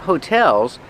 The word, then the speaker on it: hotel: And there are a lot of hotels because it's a tourist town. Remember, hotel, put the stress on the second syllable. Hotel. Not hotel, but hotel.